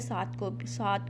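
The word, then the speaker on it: صدور: तो यहाँ पे आपने साद को भी हैवी साउंड के साथ पढ़ना है। सू नहीं कहना है, वरना तो सीन की साउंड बन जाएगी। आपने कहना सू सू, फी सू दू।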